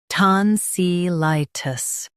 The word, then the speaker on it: tonsillitis: In US, stress SIH. In UK, stress ton.